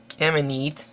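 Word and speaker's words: Camineet: Okay, we start on the town of, Kamenit. Is how you pronounce it.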